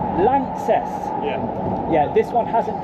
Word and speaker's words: LANXESS: And how do you pronounce it? Lances. Lances.